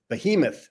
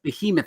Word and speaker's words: Behemoth: We're going to be talking about a new comic book that's about to release called, how do you pronounce that, Mike? Behemoth. Behemoth.